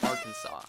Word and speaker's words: Arkansas: officially declared its name Arkansas, preserving both the French spelling and pronunciation.